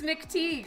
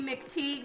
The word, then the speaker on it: McTeague: like I guess it's McTeague right see because most people call me McTigue which actually is the incorrect pronounce pronunciation of my name do I know you Oh Thank You mr.